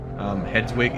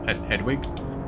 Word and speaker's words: Hedwig: Hedwig is pronounced exactly like it is pronounced in Harry Potter, the name of the owl, Hedwig, but Hedwig Ho.